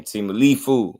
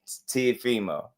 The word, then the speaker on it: Teofimo: Turkey saying Timalifu on the call.